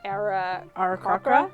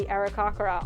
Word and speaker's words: Aarakocra: were raised by I never know how to pronounce it. Aarakocra?